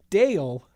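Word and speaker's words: Dayle: Like, put that, like, Dale. Yeah. Like, Dale Gribble from King of the Hill. Dale Okazaki. Yeah, but it's spelled D-A-Y-L-E.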